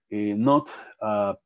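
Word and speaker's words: Knuth: marcó mucho la diferencia es la publicación de Knott. Es el apellido de un autor, se escribe K-N-U-T-H. Knott propone un montón de algoritmos, de hecho ahí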